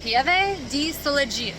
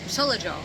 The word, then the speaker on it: Pieve di Soligo: How do you say Pieve di Soligo? Soligo.